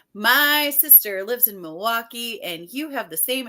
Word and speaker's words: Milwaukee: knowing she knows that you don't pronounce the L and it's moal Kai and I was like